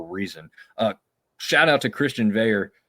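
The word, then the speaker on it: Veilleux: Shout out to Christian Veyer, which is, again, the weirdest last name to pronounce with the way it looks. That's French Canadian. Not how it looks. No, not in the least bit.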